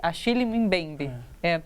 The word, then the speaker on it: Achille Mbembe: Como pronuncia o nome dele? Achille Mbembe.